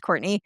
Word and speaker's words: Courtenay: It's spelled like Courtenay. It's pronounced Courtney, but you won't find me unless you spell it that way.